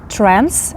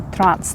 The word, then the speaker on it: trans: нас теж є але Зверніть увагу що це буде trends а не Транс так тобто дуже часто